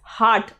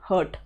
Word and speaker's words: heart: So always try pronouncing it as heart and not hurt, right?